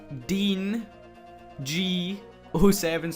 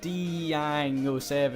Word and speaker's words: Dean G07: So I definitely pronounced that right this time. Completely messed up. I was like Deang07. And yeah, all the guys and Dirty Donators made fun of me for that. We all had a laugh, and yeah, I fluffed that up. So it's Dean G07.